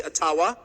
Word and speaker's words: Ottawa: It cannot be taken from you no matter who is in Ottawa, or as we say Ottawa, which by the way is the correct pronunciation according to my friends in the Ojibwa community.